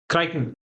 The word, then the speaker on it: Crichton: Sorry, how do you pronounce it? Crichton.